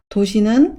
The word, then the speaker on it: 都市: 인구가 늘어나고 성의 규모가 커진 이후에도 도시는 항상 물가를 중심으로 형성되었습니다.